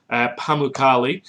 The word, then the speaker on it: Pamukkale: It's Pamukkale. Pamukkale. Again, my pronunciation is probably off, but you can look